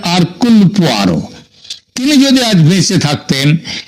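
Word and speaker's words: Hercule: আগাতার কৃষ্টির যে গোয়েন্দা আরকুল পোয়ারো তার তত্ত্ব অনুযায়ী আঘাতে এবং তার বনে গোয়েন্দা আরকুল পোয়ারো এটা যদিও উচ্চার উচ্চারণে এটা হয় হারকিউল কিন্তু একচুয়ালি উচ্চারণটা হচ্ছে আরকুলার তিনি যদি আজ বেঁচে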